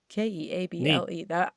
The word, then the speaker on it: Keable: Her last name is spelled Keable. Keable.